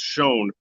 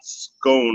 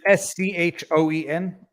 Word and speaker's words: Schoen: I want to make a bet with you that the name is pronounced Schoen, not Scone, or however you've been pronouncing it. Is it Schoen?